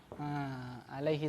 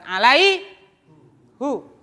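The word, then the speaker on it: عليه: Ala, bacanya apa, Pak? Alaihi salam, bukan alaihu.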